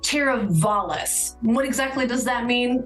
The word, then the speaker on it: Teravalis: check out this new community called Terra Villas all right guys the real name is actually pronounced teravalis what exactly does that